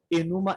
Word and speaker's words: Enuma Elish: a deusa dragão, ou Enuma Elish. Enuma, como se escreve, Elish igual Billy Elish.